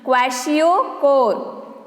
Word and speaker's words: Kwashiorkor: Listen the pronunciation. Kwashiorkor. Kwashiorkor.